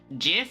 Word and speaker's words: GIF: me quickly EXP expain GIF is pronounced GIF because that's what the Creator said and because it sounds better but before I'm going